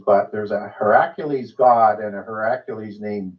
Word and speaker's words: Heracles: then there's a her I'm going to pronounce it a little bit differently her accules which is often conflated with Hercules but there's a Heracles God and a heraculous